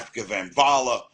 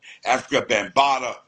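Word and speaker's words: Afrika Bambaataa: Jazzy J, you had Africa Bambaataa, no, I'm saying it wrong, Africa Bambaataa, and you had a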